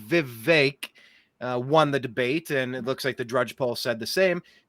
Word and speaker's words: Vivek: It's actually Vivek. Heard him pronounce his name.